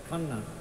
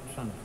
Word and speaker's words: Channa: the singular name Kanea, because the Dutch wrote the K sound as CH, so they intended it to be pronounced as Kanna and not Channa.